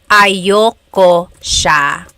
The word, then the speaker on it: ayoko: Usually it's pronounced ayoko siya. So if you want to sound a little bit more natural, you put everything together, ayoko siya. Ayaw ko siya is ayoko siya.